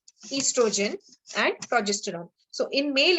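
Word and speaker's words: oestrogen: This O is silent here, so we say it estrogen and progesterone.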